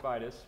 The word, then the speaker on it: Vitis: I know it's supposed to be pronounced Vitis, but we'll go with it.